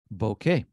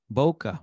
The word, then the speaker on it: bokeh: and we can add bokeh Boca bokeh I think it's uh people pronounce it Boca um again um the